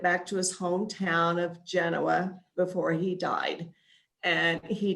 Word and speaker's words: Genoa: railroad town to ask the correct way to pronounce is genoa the legend is that there was a railroad worker from italy and he wanted to be able to get back to his hometown of genoa before he died and he did not make